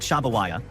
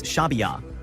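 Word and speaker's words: شعبية: Dennis tells her, "It's not Shabawaya, it's Shabbya."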